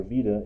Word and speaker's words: beta: vector of interest right our beta or veta in more correct greek pronunciation would be the direction